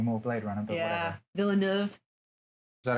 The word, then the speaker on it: Villeneuve: Villeneuve. Is that how you pronounce it?